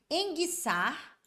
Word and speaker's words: enguiçar: é cabuloso né é por exemplo enguiçar e linguiça Olha só o som do U sumiu nos dois encontros do guu não o